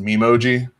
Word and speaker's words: Memoji: And then with iOS 12, which releases this fall, Apple's coming out with, I think it's pronounced Memoji, which is personalized Animoji.